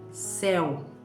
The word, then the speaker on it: céu: Outras palavrinhas com o exemplo da letra aberta é seria céu.